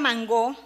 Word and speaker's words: mangó: a la palabra mangó Puerto Rico es el único país de habla hispana que lo pronuncia con acentuación oxítona o aguda al modo francés y afr francés igual que mangot Inn el resto de los hispanohablantes acogió la la pronunciación paroxítona o llana del inglés mango que se justifica porque